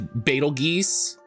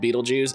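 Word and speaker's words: Betelgeuse: I like in the in the uh musical his name is is Betal Geese, but it's pronounced and spelled beetle it's pronounced and often spelled Beetlejuice.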